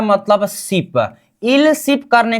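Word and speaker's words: 십: हम यहां पर 10 को क्या बोलेंगे, सिप का मतलब 10 हो गया है ना हमारा, इसका उच्चारण क्या करेंगे, सिप। क्या, सिप।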